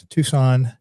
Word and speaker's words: Tucson: us today, Matt Christman, all the way from Tucson. Am I saying that right? Tucson, that's how you say it, Tucson, right?